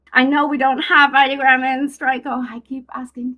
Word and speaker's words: Ideogram: And so for me, I love Flux and well, actually, it's not pronounced ideogram. I've been saying that wrong for so long. It's ideogram. So I love them. I know we don't have ideogram in Straico.